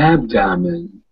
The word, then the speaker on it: abdomen: Abdomen. It's really short. Abdomen. Abdomen. Yeah, you put the emphasis here. The first ab.